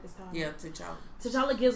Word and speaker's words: T'Challa: Yeah, T'Challa.